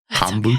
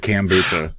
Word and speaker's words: kombucha: to say it anymore kombucha it's kombucha it's always been kombucha and you've always said cucha cucha uh yeah no defin